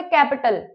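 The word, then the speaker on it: capital: दूसरा वर्ड है कैपिटल। इसमें पी के बाद ई की साउंड नहीं आ रही है।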